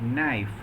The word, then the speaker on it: knife: English language for example in the word knife K is not pronounced in the word owner